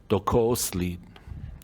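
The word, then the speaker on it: Dook'o'oosłííd: that in mind um this place how you say it in Navajo is docos lead okay it's um it's what we all know as the San Francisco Peaks just right outside Flagstaff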